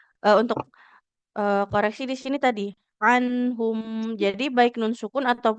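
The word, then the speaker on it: عنهم: Di anhumnya hati-hati ya. Jangan anhum. Anhum lebih mengalir bunyi huruf nunnya.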